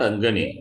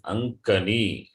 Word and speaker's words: अङ्कणी: लेखन्यः अङ्गणी एषा अङ्गणी Not Angani. It is Ankani. Pronunciation, have to correct it.